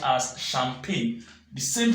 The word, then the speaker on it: champagne: no it's not some painte rather is not jumpy this one here is not jumpy but this word here is pronounced as champagne the same pronounce only go with shampoo this